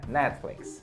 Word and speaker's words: Netflix: with me Netflix aê o t ele é um pouquinho né ele ele ele é bem Sutil né Netflix Netflix tipo a língua só dá uma relada no céu da boca Netflix E aí sai próxima rede